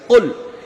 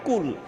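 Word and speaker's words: قُلْ: এখন কোনো ব্যক্তি যদি কুল শব্দটার এখানে কফটাকে ভালো করে উচ্চারণ না করে শুধু কাফ দিয়ে পড়ে কুল, কুল এর অর্থ হবে খান। অর্থাৎ আমরা যখন কাফ দিয়ে পড়ব, তখন অর্থ চেঞ্জ হয়ে যাবে।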